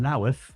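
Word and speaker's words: Louth: in the Greyhound in lth you got to pronounce it like that apparently lath in Lincolnshire and it was a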